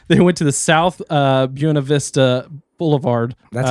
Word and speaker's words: Buena Vista: They went to the South Buena Vista Boulevard.